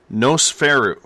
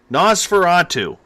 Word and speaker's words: Nosferatu: password for the SOR Nosferatu Nosferatu I just got it in my earbuds that I was pronouncing it wrong Nosferatu is the password